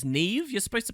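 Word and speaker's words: Niamh: Well, it's Niam here. Or, didn't people say that apparently this is supposed to be Irish or something, and it's Neve? You're supposed to pronounce it Neve?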